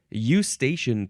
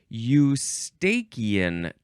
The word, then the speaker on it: eustachian: The first word in this episode is eustachian tube. Eustachian. The next word is tube. Tube. Like a slide is a tube. You can also pronounce it eustachian tube. Some people like to say eustachian tube.